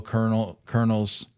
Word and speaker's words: Colonel: 1889 Louisville Colonels. Talk to me about that roster. Fire me up here. It's pronounced Colonel.